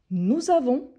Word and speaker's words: nous avons: elle est on est nous avons la première personne du pluriel nous avons n'oubliez pas de faire la liaison nous avons nous sommes